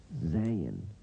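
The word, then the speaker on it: Zayin: Z sound as in zoo and zebra.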